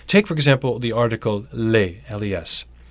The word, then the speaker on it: les: Take for example the article less. By itself, it's boring. It sounds like le and you don't pronounce the s.